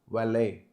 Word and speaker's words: valet: The pronunciation of this word is valet.